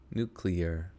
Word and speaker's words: nuclear: Nuclear. Oh, no, it's 3 syllables.